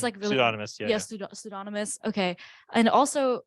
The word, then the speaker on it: pseudonymous: And the benefit of this would be that it's I don't know even how to pronounce this word, pseudonymous. It's really pseudonymous.